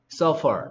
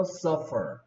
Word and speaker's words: suffer: 얘는 suffer. 자, F는 F답게 윗니가 아래로 치면서 suffer. 그렇지, suffer. 에이, 또 입술 붙었어, 붙으면 안 돼.